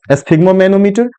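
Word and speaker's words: sphygmomanometer: इसका थोड़ा सा प्रोनाउंसिएशन कठिन है, लेकिन इसको इसके जब साइलेबल पे ध्यान देंगे, साइलेबल बाय साइलेबल, आसानी से इसका हम प्रोनाउंसिएशन कर पाएंगे। एस्फिग्मोमेनोमीटर, एस्फिग्मोमेनोमीटर, एस्फिग्मोमेनोमीटर, a device for measuring blood pressure, a device for measuring blood pressure.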